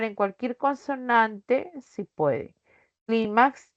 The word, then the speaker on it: Clímax: Clímax lleva tilde porque terminó en X.